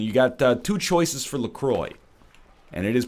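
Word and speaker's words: LaCroix: Whole Foods and you got two choices for lacroy and it is pronounced lroy much to my chagrin even though I think it should be pronounced laqua uh do you take lemon you take lime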